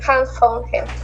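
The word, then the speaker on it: Hans von Hentig: Hans, ¿cómo se pronuncia? Von Henting, Hans von Henting.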